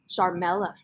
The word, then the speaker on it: Sharmela: Sharmela.